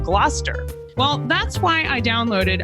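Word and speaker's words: Gloucester: Like originally, I said glalcaster instead of gluster.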